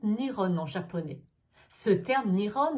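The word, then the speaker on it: 日本: En effet, Japon se prononce Nihon en japonais.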